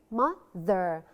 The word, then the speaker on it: mother: Mother. The TH, the. You stick out your tongue when you're pronouncing the TH.